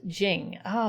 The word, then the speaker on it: Zheng Fa: out and fell asleep it's pronounced as jing ah thank you jengfu is that it yeah